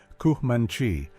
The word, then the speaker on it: Comanche: The name kanchanchchi pronounced kmanchi may derive from the Spanish kamino ancho main road or the ute kontea one who wants to fight me.